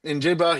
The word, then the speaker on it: Njigba: Uh Smith Jigba. Uh it has an N and Jigba, I think is how they pronounce it, but it's number 11 Smith. Injigba.